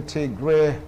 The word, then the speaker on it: Tigray: in ethiopia and the tigray regional equality great crisis or tiger crisis depends on where to pronounce it because right now it's